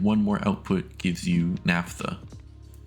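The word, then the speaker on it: naphtha: And adding one more output gives you NAFTA. Yes, that's how it's pronounced.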